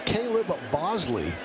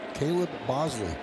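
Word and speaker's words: Caleb Boushley: Here's Caleb Bosley. That's how he pronounces the name. It's spelled quite differently, but Caleb Bosley and he deals outside to Lameu.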